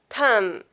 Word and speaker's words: thumb: These words, if our words end in MB, you don't pronounce B. B will be silent. You pronounce this word is climb, bomb, calm, karam, dumb, limb, num, thumb, tomb, womb.